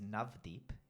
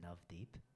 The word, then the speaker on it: Navdeep: and God bless you so my name is navdeep and the way to spell that on the Internet is n a v d double e p n a v double e p that is navdeep and if you're looking on Instagram it's missed